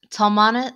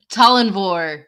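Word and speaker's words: Tallanvor: Talmanis? No, not Talmanis. Talmanis is not that no, guy. It's Talinvor. Yes.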